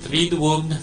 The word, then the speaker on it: Triduum: Sabi nga natin, Triduum, 3 days. It's a strange word to us. To us, as in vacuum, but 3 syllables.